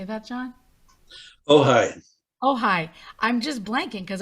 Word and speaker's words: Ojai: Following 3 years at Olcott, he moved to, don't know how to say that, OJAI, or how do you say that, John? Ojai.